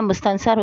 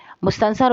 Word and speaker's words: مستنصر: جیت سکتی تھی، جس کے لکھنے والے ہیں مستنصر حسین تارڑ۔ آج ہم اس سبق کا خلاصہ